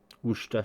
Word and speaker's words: Worcester: And in case you're still not sure how to pronounce it, it's actually not as difficult as it looks. So Worcester sauce.